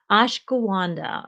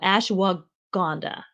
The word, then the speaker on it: Ashwagandha: I'm going to say it wrong. Ashgawanda or Ashdaguana. No, Ashwagandha, I think.